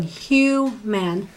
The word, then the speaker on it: human: human private private okay which syllable in these words has the stress human private where am I stressing like the Iva in private well it's actually the first syllable so you'd be going hugh man and private so but